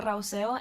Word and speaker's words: Rauseo: Raosco, am I pronouncing that correctly? Please educate. Thank you. Hi, thank you to the board. My name is Rauseo, and I live in